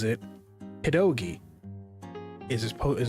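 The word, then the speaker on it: pierogi: it pedogi iso as opposed to perogi or perogi. It's pedogi. So I've always grown up calling them pedogis. didn't know that that was a very specific thing only done in one state in the United States by the Polish population that lives there. I've pronounced it that way my entire life and suddenly people were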